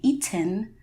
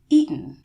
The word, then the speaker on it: eaten: eaten right same thing you're not going to say eaten that's not natural sounding in the American dialect of speaking English instead you would say eaten and I do want